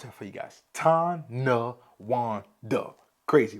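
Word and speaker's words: Tonawanda: right let's get into Tana Wanda again I'll pronounce that for you guys tan Wanda crazy right uh but let's talk about the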